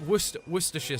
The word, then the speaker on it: Worcestershire: like um you know it's the classic Worcestershire sauce it's actually it's like it's not spelled that way but it is but hey but it's said that way um which is weird